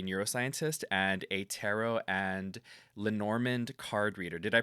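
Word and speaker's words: Lenormand: Bianca Flores is a neuroscientist and a tarot and Lenorand card reader. Did I pronounce that one right?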